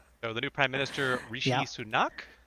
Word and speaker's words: Rishi Sunak: the new prime minister Rishi sunak uh Mr Biden believes that it was better pronounced as Rashi Sanuk listen listen he's our